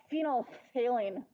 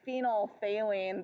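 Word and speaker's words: phenolphthalein: think of Sylvester the hatat because it's got phenol phine okay we don't actually say it like that we say phenol phine the pH is silent but um it's so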